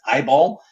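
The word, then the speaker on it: IBAL: i b a l we pronounce that eyeball so we don't sound quite so pretentious um that API could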